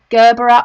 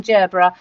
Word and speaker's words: gerbera: we were discussing this the pronunciation of gerbera or gerbera okay so whichever way you say it we're saying gerbera we've got the pearlescent